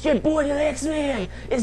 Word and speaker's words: Dalyxman: swear but um yes it's pronounced the lexman like the like The Lex man but slang the like duh like d xman like duh d xman That's how you say my name why is it like